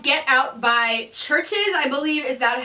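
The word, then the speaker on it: CHVRCHES: my next song is called get out by churches I believe is that how it's pronounced I'm hoping basically its churches but the U is in me so let's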